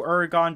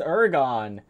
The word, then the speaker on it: Uragaan: or gone yet but this is ergon or uragon however you pronounce it i believe it is ergon which we will be calling him throughout this video his habitats are the